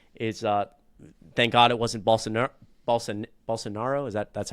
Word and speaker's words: Bolsonaro: Now their president is, thank God it wasn't Bolsonaro. Is that's how you pronounce it? Bolsonaro.